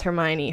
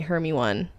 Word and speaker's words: Hermione: And Grace always talks about how my mom used to pronounce Hermione, Hermy-one.